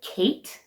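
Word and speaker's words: Ckite: we have the brand Kate so my name that's spelled very interestingly spelled like a Utah mom wood if you know what I mean spelled c k i t e I don't even know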